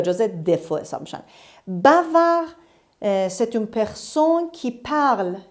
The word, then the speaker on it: bavard: de manabi adapco store bavard bavard il est bavard dhainaut se prononcent pas elle est bavarde bavard 12 134